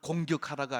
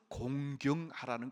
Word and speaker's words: 공경하라: 이거 발음을 잘해야 돼요. 내 부모를 공격하라가 아니고 공경하라는 것입니다.